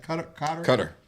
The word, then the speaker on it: Qatar: $400 million plane from, how do you pronounce that? Cutter.